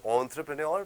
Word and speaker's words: entrepreneur: So the correct pronunciation of this is entrepreneur, which means an entrepreneur is a person who starts their own company.